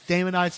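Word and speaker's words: Daemonites: kobam and diamonites and the reason why I know it's diamonites is because they made a cartoon and that's how they pronounced it on that show let's break it down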